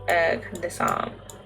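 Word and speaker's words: Candice Arme: Her full name is a play on Can Disarm. A reference to her job as a bomb disposal specialist. So it is pronounced Can Disarm.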